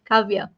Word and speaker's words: Kavya: that I'm going to meet you am I pronouncing your name right yes you're right cavia okay just to for the benefits of everyone